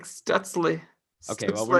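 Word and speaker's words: Stützle: I thought it's just pronounced Stutzel. Is it like It's more? No, it's like Stutzle.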